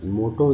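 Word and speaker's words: motto: और मोटो देखिए वर्ड है जिसके 2 है, एक ओ एम के साथ, दूसरा जो है टी के साथ, दोनों का उच्चारण ओ के रूप में हो रहा है, मोटो।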